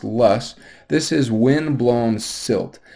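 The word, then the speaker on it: loess: wind is called lus it looks like it's pronounced loss but it's pronounced less this is wind blown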